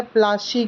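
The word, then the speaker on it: Palashi: प्लासी एक एंग्लिकाइज्ड प्रोनाउंसिएशन है प्लाशी की, पलाशी जो वर्ड है, एंड द प्लेस डिराइव्ड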